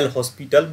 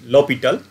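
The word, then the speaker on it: L'Hôpital: So people are also telling this as a L'Hopital, but correct pronunciation is L'Hopital.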